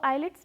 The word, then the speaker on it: IELTS: सो आइलेट्स test के अंदर, या इसको आइल्स टेस्ट भी प्रोनाउंस किया जाता है, इसके अंदर 4 मॉड्यूल्स होते हैं.